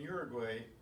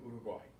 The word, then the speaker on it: Uruguay: I know in English we say Paraguay and Uruguay, but it's not in Spanish. Paraguay and Uruguay.